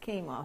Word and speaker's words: quinoa: It's like a sort of a seedy sort of bit like, you know, it actually looks like the word quinoa, but it's pronounced quinoa.